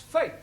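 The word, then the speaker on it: fete: For example, F-E-T-E is also pronounced fate.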